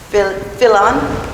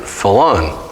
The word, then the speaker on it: Fillon: So, but I began pronouncing it Fillon, which is unusual, but the real name in the Philippines is pronounced Fillon. With the double L. And very quickly and very brief. So that's the way it should be pronounced.